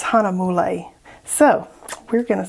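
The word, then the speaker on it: Hahnemühle: the American pronounced pronunciation I kept trying to say like maybe the German pronunciation I don't know honeymoon is what I was thinking but it's Hana mole so we're gonna say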